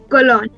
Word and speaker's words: Colón: Colón.